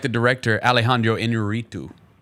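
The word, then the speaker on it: Iñárritu: I like the director Alejandro Inarritu. I like that pronunciation right there. I like the way you rolled your tongue.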